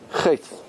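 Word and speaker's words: חטא: Chet. Chet. Which letter is silent?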